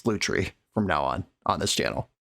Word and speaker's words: Lutri: conversation with myself about how I'm going to pronounce this card, Lutri or Lutri. And I landed on Lutri, but somebody pointed out in the comments that the French word for otter is a loutre, which very clearly is where this name was inspired by.